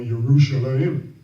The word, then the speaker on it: Yerushalayim: There's no J, so it's not called Jerusalem, it's called Yerushalayim with a Y.